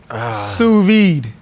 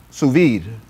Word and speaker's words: sous vide: playing with y'all oh man okay so proper pronunciation is sous-vide sous vide sous vide okay we learned some new teaching